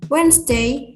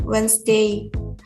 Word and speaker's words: Wednesday: For example, Indonesians speak the B and D or any other silent letter boldly in Wednesday, not Wednesday, bomb, not bomb or bomb.